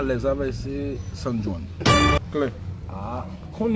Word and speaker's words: San Juan: C'est pas San John, c'est San Juan. C'est J.O. J.O. pas prononcé même.